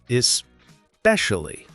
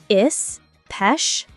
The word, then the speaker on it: especially: Especially. Especially. That's tough. Try breaking it down. Is-pesh-ali. Is-pesh-ali. Especially.